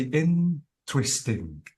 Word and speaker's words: interesting: have to say interesting you have to say interesting so notice that the stress is on in okay and uh uh